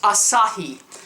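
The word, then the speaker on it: açaí: we have the Asahi Berry and it is pronounced Asahi Berry collagen mask and again that one has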